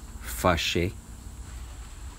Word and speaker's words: fâché: The next one is to get mad or to get angry, and it's pronounced fâché.